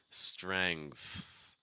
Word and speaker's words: strengths: So let's start off with that NG sound, that with the back of your tongue high. Then we're going to slide into that TH. I recommend that tip of your tongue pressed against your bottom front too. So like and then we'll add the S. So together, it's going to sound like strengths, strengths, strengths.